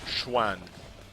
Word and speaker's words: Xuan: S or CE, pronounced Schwan.